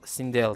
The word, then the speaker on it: Sindel: Normalde İngilizce'de şöyle bir gireyim ben o sırada. İşte bu ikinci gelen E, I ile I arasında bir kelime diye okunuyor. Normalde öyle okuyorlar yani, Sindel gibi oluyor. Yani tam şey de demiyorsun. Sindel de demiyorsun. Sindel de demiyorsun. Ortasını diyorsun.